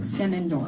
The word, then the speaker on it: Skenandore: 4, Skin and Door. 3, Skin and Door. spell it. SKENANDORE. The E is silent. Skin and Door.